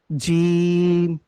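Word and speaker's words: جيم: এরপরে দেখুন পরের অক্ষরটা জিম। জিমটা হলো জিহ্বার যে মধ্যখানটা আছে ঠিক তার বরাবর উপরে তালুর সঙ্গে লেগে উচ্চারণ হবে, জিম।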